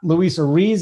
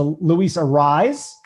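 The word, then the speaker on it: Luis Arraez: many of your mispronunciations it's not luisa reese it's a luisa rise can you say a rise for us i'm a rising there you go luis arise and then uh draft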